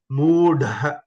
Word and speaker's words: मूढः: Moodha, moodha. This is Mahaprana. Moodha.